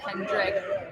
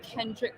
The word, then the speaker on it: Kendrick: But look at all of our viewers right now having chit-chats amongst themselves about the Breeders' Cup, about Kendrick.